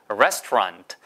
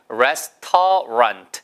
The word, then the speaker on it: restaurant: 근데 이건 영어니까 레스터런이에요. 레스토랑트. 아까 R-A-N-T는 언트 발음이잖아요. 그러면 R-A-N-T니까 언트 발음, 런트 발음. 그렇죠? 그다음에 레스터런트. 해보세요. 레스토랑트. 절대 레스토랑 아니에요. 예, 레스토랑이라고 쓰는 이유는 불어 단어가 헤스토황.